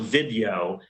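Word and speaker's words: Vidyo: have a contract with a company called vid it's spelled video but it's pronounced video v-i-d-y-o we have a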